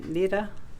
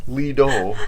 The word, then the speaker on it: Lido: Lida? Yeah. Oh yeah, the Lida. That's how you say it. We had lunch at the Lido.